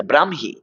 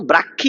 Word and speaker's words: ব্রাহ্মী: ব্রাহ্মী ব্রাহ্মী লিপি ব্রাহ্মী এই শব্দটার উচ্চারণ হচ্ছে এটা ব্রাহ্মী কখনো ব্রাহ্মী কখনো ব্রাক্ষী এরকম বলবেন না ব্রাহ্মী লিপি ব্রাহ্মী লিপি নয় ব্রাহ্মী লিপি ব্রাহ্মণবাড়িয়া নয় ব্রাহ্মণবাড়িয়া ব্রাহ্মণবাড়িয়া ব্রাহ্মণ নয় যুক্তবর্ণ ভাঙলে হ ম উচ্চারণে ম হ ব্রাহ্মী লিপি ব্রাহ্মী লিপি